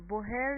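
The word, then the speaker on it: Bohr: نظریه بوهر یا بور، آخه معمولا به بور معروف هست اما بوهر نوشته میشه، H داره اما خب چون تلفظش خیلی سخت هست معمولا میگن نظریه بور.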